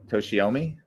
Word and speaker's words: Toshiomi: Toshima or Toshyama? How do you say it? Toshiomi.